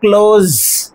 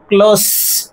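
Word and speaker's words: close: সি এল ও এসই যখন verb তখন উচ্চারণ হবে ক্লোজ জেড সাউন্ড আসবে। ক্লোজ সি এল ও এসই যখন এডজেক্টিভ তখন কি হবে? উচ্চারণ হবে ক্লোজ।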